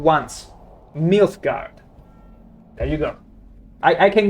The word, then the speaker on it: Nilfgaard: I've never mispronounced the name once. Nilfgaard.